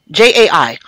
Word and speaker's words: Jai: The next Nunu is called 1230 by Jai, or Jay, J-A-I. I'm not sure how you pronounce that. We're going to say Jai, like Kai Jai, here on the Worldwide Wednesdays Musical Mix at 6 on Talk Radio.